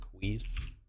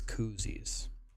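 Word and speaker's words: Cuisses: And if someone, I swear to God, if someone tries to tell me it's pronounced queeze, it's koozies.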